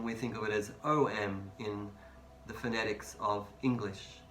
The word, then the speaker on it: Om: And the mantra for the third eye chakra, Om. Now, it is spelt in phonetics to be A-U-M, but that's, if you understand, if you speak Hindi or Sanskrit, you'll know that A-U is the sound of O, and that's why often